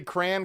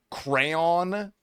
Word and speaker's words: crayon: Say crayon because there's a right and a wrong way to say it, brother. I say cray. If you think I'm going to add a second syllable crayon.